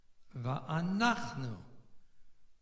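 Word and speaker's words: וַאֲנַחְנוּ: So that tells you that the stress is on the nun. V'anachnu. And you would not, in that case, put the stress on the last u or nu. It's on the nach.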